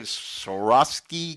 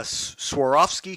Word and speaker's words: Swarovski: photo made on those how do you say sovi crystal staircases yes uh Swarovski Crystal yes we uh we've got we've been